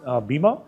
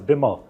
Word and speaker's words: Bimmer: Uh but you know it is also the the nickname is also beamer but actually the correct pronunciation for that is Bimmer which is B I D M E R.